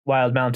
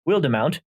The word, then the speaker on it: Wildemount: actually today found out is pronounced wild mount and not wildemount so that's a whoops